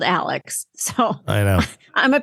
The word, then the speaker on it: Alex: latest on Alex or Alec that drives me nuts I know they pronounce it Alec but it's spelled Alex so I know I'm